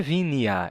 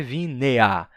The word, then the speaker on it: vinea: Cavia, lanquia, ele tá dizendo, não é com e é vinea, cavea, lanquia.